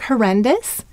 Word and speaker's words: horrendous: So the first syllable is hor. Oh, hor. The second syllable is ren. N. And the third syllable is dus. D-U-S. So, how will we mark horrendous?